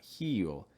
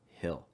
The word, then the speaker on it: hill: silent haunting haunting hill watch out for this short eye so it's not heal it's hill the haunting of hill